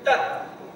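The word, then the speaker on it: तत्: So there, tat. Sat. Sat. If that Halan was not there, how you pronounce it? Tata. Right? Halan is there, so you say tat.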